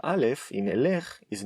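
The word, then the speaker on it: ילך: In third person, future masculine form, we do say Yelekh. Hu, Yelekh. That is correct.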